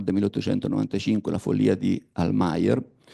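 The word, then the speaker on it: Almayer: 1895 la Fol di almeer o almeer pronunciato all'inglese ma è un olandese il protagonista sogna per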